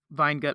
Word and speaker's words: Weingut: I was in Austria, I did learn that it's pronounced Weingut, which I just love. I just love how that sounds.